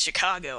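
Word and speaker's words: Chingachgook: his acute Indian experts chin Gaucho Guk pronounced Chicago I think has lost the trail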